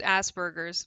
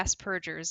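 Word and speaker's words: Asperger's: I think it's uh I think it's Aspergers but uh yeah as purgers is also an accepted pronunciation you think uh trans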